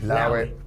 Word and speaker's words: allow it: it now allow it you actually pronounce it without the ace you just say love it when you say now